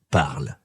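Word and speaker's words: parlent: On écrit parle avec ENT à la fin, mais on ne prononce pas ces lettres. On dit juste parle.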